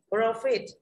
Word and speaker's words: profit: Profit, profit đây là danh từ, đúng không ạ? Danh từ trọng âm dêm viết thứ nhất luôn, nó không có âm ơ, không có âm âu, không có nguyên âm đôi gì cả, không có dài thì ta rơi vào âm tiết theo quy tắc chung.